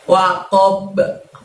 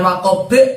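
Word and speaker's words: وقب: Gosiqin, ida panjang 2, lalu ditutup dengan lafadz waqob. Di situ terjadi bacaan qalqalah juga teman-teman, karena kita membaca sukun huruf ba di sana ya. Waqob, jangan waqob tapi waqob, seperti ba di fathah ya cara mantulnya ya.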